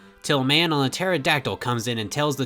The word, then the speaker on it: pterodactyl: the vivisaur you know I say p Tara but I guess it's just Tara because the p and pterodactyl is silent I really like Fossil